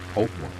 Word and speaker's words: Poltava: If you understand Poltava, the later events in Finland stop feeling random and start making sense as consequences. And pronunciation first, since you asked. Poltava is pronounced roughly Polt-va.